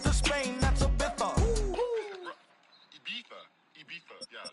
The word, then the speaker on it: Ibiza: Ibiza. Yeah, it's pronounced Ibiza, actually. What's the difference? Ibiza, Ibiza.